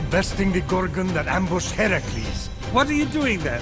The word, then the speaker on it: Heracles: So, Phoenix, after boldly besting the Gorgon that ambushed Heracles... What are you doing there? That thing with your voice? Heracles? Yeah, that! That is how it's supposed to be pronounced.